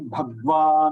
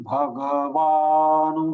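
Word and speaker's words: भगवान्: Here also one thing is going wrong with many people. Shri Bhagwan Vacha, Bhagwa. So here also we are compromising with the ga. Ga is pronounced as halanta, which is not correct. Ga is complete.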